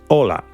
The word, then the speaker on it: Hola: begin the age is silent for example in Ola is pronounced just Ola it doesn't sound the H is a consonant